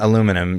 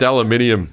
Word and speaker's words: aluminium: Recycling aluminum uses only blank % of the energy of the virgin production. So it's... What? So you lost me at aluminum. If you recycle... It's pronounced aluminium.